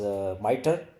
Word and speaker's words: MITRE: This is actually pronounced as MITRE, and it's not in acronym. It's actually the name of an organization, that is the MITRE Corporation.